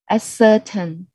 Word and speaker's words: ascertain: So here, and the stress is on the 3rd syllable.